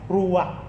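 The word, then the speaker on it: ruach: Ruak. Hindi ko alam kung silent K to pero nung binanggit nung kakilala ko ay ruak na nangahulugang hininga, breath of God, hangin at espirito.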